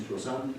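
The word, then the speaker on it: Chosŏn: This is the Japanese pronunciation. Korean is Chosun, Japanese is Chosen.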